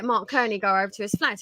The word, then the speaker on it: Mark Cerny: mark kearney although i i think i pronounced this mark cerny and then i got brutally corrected and so you get mark kearney go over to his